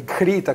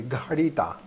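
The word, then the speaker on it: घृत: Кхи должны употреблять, или гхрита, как правильно это на санскрите, гхрита. Правильно это произносится. Кхи это на хинди. Правильное название вот этого продукта – гхрита.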